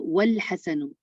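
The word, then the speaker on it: والحسن: और यहाँ आपने देखा वल हसनु, वाव को लाम से मिलाया गया और अलिफ जो है वो साइलेंट हो गया।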